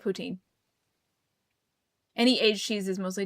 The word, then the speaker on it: poutine: The French in Quebec are the ones that say they invented it and say that the right way to say it is poutine. But everywhere else in Canada says it poutine.